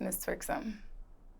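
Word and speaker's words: Mizz Twerksum: correct way to pronounce my stage name is Miss txom do people mispronounce this people mispronounce my name all the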